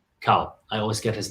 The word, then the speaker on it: Cowell: America's Got Talent, and then you've got Simon Cowell or Powell? Simon Cowell. Cowell. I always get his name wrong.